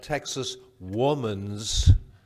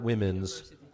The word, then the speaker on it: Texas Woman's University: Corrine whatever said but I really care about pronouncing Texas woman's not women's college and university Texas Woman's University TWU so I've been educated already by dr.